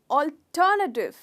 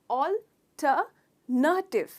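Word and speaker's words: alternative: ऑल्टरनेटिव, ऑल्टरनेटिव कहा जाता है इसको, है ना, पर गलत है वो प्रोनाउंसिएशन। इसका प्रोनाउंसिएशन है ऑल्टरनेटिव। तो नेटिव नहीं है, नटिव, ऑल्टरनेटिव। ट्राई कीजिए, इसे स्ट्रेस कीजिए, ट, ऑल्टरनेटिव, ऑल्टरनेटिव।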